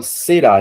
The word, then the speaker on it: será: A palavra será, gente, é uma palavra oxítona, paroxítona ou proparoxítona? Oxítona. Oxítona. Tô bem, pessoal. Tá bem intuitivo, né? Bem simples. Oxítona, porque vejo que a sílaba forte é a última.